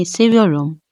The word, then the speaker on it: seviyorum: correctly so let's start the correct way of pronouncing this phrase is sinum s your room s your room s